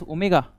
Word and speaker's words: omega: This is this is called as omega. This is pronounced as omega which is constant.